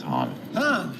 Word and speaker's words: Han: sound your M yeah this is Han Solo Han Solo anything H it's Han and the time um